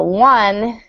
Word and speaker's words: one: which is important so one is spelled o n e but it's pronounced one like it starts with a w so um she has